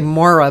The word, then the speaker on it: Moira: out yeah yeah yeah Moira well it's really Moira but m o i r a mo it's spelled like Moira Smiley and um she's a